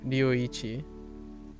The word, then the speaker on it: Ryuichi: Ryuichi. Ryuichi. So ichi is very sharp and pronounced, and it's, you know, one, right? Ichi. And then Ryu is very soft and blendy.